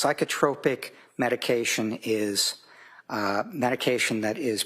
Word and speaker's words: psychotropic: It's pronounced psychotropic. And sorry? Oh, okay. It's psychotropic medication is medication that is prescribed to help treat symptoms of mental or emotional disorder.